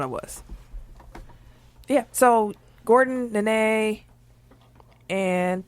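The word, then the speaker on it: Nenê: Nene. And it's, I don't know. Literally two I know. Wait, what? duplicated syllables.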